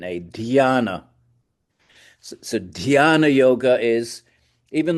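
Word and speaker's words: ध्यान: D h y a n a dana.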